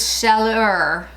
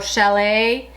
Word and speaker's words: Chaleur: And the last one is Chaleur, or Chalet. That's not how you pronounce it. It's C-H-A-L-E-U-R.